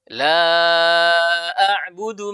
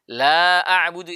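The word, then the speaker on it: لا أعبد: La a'budu ma ta'budun. Itu harus panjang. Tapi dia kurangi menjadi la a'budu ma ta'budun. Itu sangat fatal artinya. La a'budu itu artinya tidak saya menyembah.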